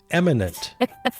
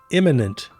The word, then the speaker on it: imminent: He said that the threat from China could be eminent. Okay. So Pete Hex doesn't know what imminent means. Oh yes. Or how to pronounce it. Uhhuh. And eminent is a whole another word.